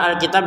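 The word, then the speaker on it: الْكِتَابَ: Kata Alkitab di sini kita panjangkan en harakat ya karena berhenti. Kalau dilanjutkan yang setelahnya ini menjadi dua harakat.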